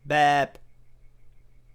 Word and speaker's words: แบบ: เบง La consonne initiale est le B, la voyelle c'est le E long, et la consonne finale c'est le B aussi, mais il est prononcé P. Donc, BEP.